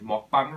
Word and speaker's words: Mukbang: einen Mukbang filme und ich finde die Aussprache davon immer noch komisch, weil es ist ja koreanisch und es müsste eigentlich Mokbang heißen, weil es ja ein koreanisches Kofferwort aus dem Wort für Essen und dem Wort für Senden oder Sendung ist, so wie ich das in Erinnerung habe.